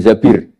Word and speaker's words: Zabir: nikah sama Abdurrahman bin Zabir di hadis ini bukan bacanya bukan Zubair tapi zabir Abdurrahman bin Zabir tapi